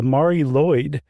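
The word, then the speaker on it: Mari Lwyd: about what's known as the Mari Lloyd, which is not spelled like it sounds, at least not the second part. It's L WYD. And that is Welsh.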